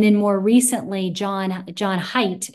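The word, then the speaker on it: Haidt: hanging on and then more recently John John height it's it's spelled ha AI DT um he came out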